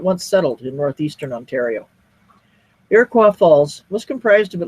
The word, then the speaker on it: Iroquois Falls: Pronounced locally as Iroquois, not Iroquois, it's about half English speaking and half French.